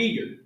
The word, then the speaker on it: Uyghur: a group of muslims called the uyghur it looks like this but that's how it's pronounced and these people are